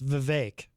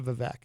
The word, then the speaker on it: Vivek: and by the way that is how you pronounce his name it's Vivek I only know that because I saw him